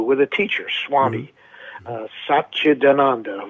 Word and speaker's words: Satchidananda: Satchidananda, which is Satchidananda, because it's not an Italian name, it's an Indian name.